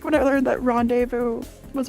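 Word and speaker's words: rendezvous: meant this is like when I learned that Rondevu was R it's not rendes it's Rondevu French Charlamagne I thought it was charl Magny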